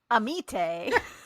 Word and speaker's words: Amite: It's there's 2 different pronunciations here that we can go with. So it's a meat or a mit.